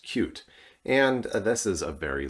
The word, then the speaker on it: Qt: we have cute um many of you know it as QT it is correctly pronounced cute and this is a